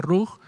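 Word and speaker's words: רוח: Bueno, dice, comentario, hermano, se pronuncia ruj. La gramática de la palabra viento es ruj. Si fuera ruaj sería así.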